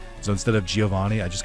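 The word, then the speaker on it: Giovanni: Uh, obviously all of us grew up pronouncing his name as Giovani.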